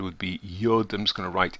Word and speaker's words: yod: The letter would be yod.